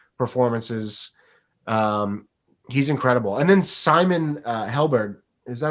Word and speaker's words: Simon Helberg: And then Simon Helberg, is that how you say his name? Simon Helberg, yeah.